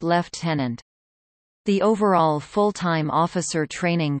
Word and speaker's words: lieutenant: Trainees at RMC hold the rank of staff cadet and, if successful in completing the course, are commissioned as lieutenants, pronounced left-tenant.